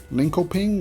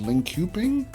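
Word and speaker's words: Linköping: it's right here uh Lincoln ping or however it's pronounced I think it's actually pronounced link cuping so we have a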